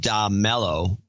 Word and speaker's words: Dame Mello: So please make me Dame Mello, pronounced Da Mello, Da Mello, with a soft A as an Italian give it to me until I can come up with something clever.